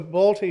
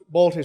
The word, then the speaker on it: Balti: that's Johan and honks so Balti is you know this Balti sort of rhymes with Bertie Wooster basically he's just he's